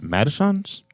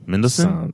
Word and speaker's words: Mendelsohn: Madison's? Mendelsohn.